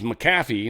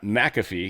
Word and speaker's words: McAfee: So this is Macaffy, not McAfee. Even though everyone says McAfee, it's Macaffy. Pisses me off.